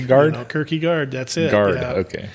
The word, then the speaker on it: Kirkegard: he called me that he say my name so it was like you know what I mean report to the whatever you know and I'm like it's Kirky guard and how